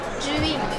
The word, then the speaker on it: Zhiyun: Zhiyun. Zhiyun? Yes. Zhiyun. Sorry guys, I've been pronouncing it wrong all this time.